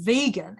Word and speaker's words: vegan: And wasn't a very good vegan because I found out down the track that the word was actually vegan, and I'd been pronouncing it wrong all that time.